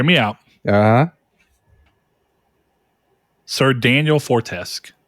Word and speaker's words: Fortescue: exactly I hear me out uh Sir Daniel fortesk Fortescue remember he pronounced his name from medieval all right Chris